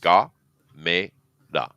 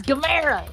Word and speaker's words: Gamera: But it is pronounced, just for your information, Ga-me-da. Gameda.